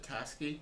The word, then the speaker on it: Tasuki: And It's like when you get so Tasky is spelled correctly as Tasuki. Okay. The U in this it's just completely silent, but it is Oh, there sweet.